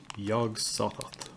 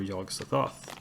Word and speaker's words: Yog-Sothoth: want to do is named yog-sothoth or yog-sothoth depending on how you pronounce it you can see it's